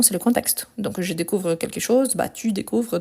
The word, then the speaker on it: découvre: ne change pas car e e s e e nt on ne le prononce pas donc c'est pour ça